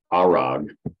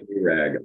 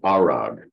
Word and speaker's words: ARAG: r a is a German company and they pronounced their uh acronym arog not AAG arag that's how they say it but anyway if